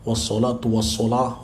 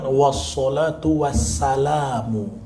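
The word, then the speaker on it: wassholatu wassalamu: sungguh-sungguh Ah gitu ya Jadi dibacanya Alhamdulillahirobbil alamin washolatu wassalamu Ah yang betul was shalatu was salamu pertama sosok yang kedua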